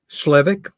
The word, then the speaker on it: Slevik: wonderfully organized and um totally professional it's um slevik SLE is that by the way have I been miss pronouncing your name throughout no I think you're